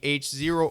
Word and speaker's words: H0: comes from Germany, where they call it H0 because it's supposed to be half of the zero scale, so the correct way to pronounce HO would be H0 or H0, but I don't care.